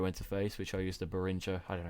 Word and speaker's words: Behringer: But yeah, from the mic that goes into an audio interface, which I use the Behringer. I don't know how you pronounce it. Behringer.